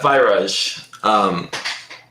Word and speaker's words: Virage: Virage, I think is how you pronounce it? Yeah, Virage.